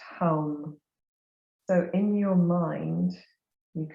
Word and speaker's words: ham: for the throat chakra is often written h.a.m ham but is pronounced hum so in your mind